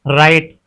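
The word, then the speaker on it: write: अगर डब्ल्यू के बाद आर आए तो डब्ल्यू साइलेंट होता है। अगर डब्ल्यू के बाद आर आर है तो वहां डब्ल्यू साइलेंट होता है। जैसे कि राइट।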